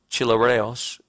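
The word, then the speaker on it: χλιαρός: than cold or hot the word translated lukewarm pronouncing the Greek chilly rails is used only here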